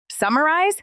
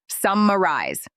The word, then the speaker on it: summarize: Summarize. Stress is on the first syllable. Summarize.